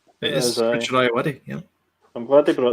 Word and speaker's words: Ayoade: I can't pronounce his second name. It is Richard Ayoade.